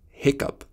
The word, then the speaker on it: hiccough: It's off as in rough, ow as in plow, oo as in through, o as in though, aw as in thought, off as in cough, up as in hiccup, ock as in lock.